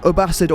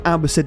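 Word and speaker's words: Abbasid: next up we have aasd or Abid depending on your chosen pronunciation to unlock aasd all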